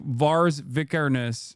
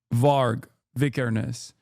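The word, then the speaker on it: Varg Vikernes: of like Judaism like Vars Vicaris comes to mind or not V no what is his name I'm saying it wrong what the uh is it var var not Vars sorry var vicares is a guy who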